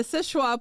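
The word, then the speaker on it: Seul Choix: it is no so it is called the sisha point lighthouse it is spelled s e u l c h o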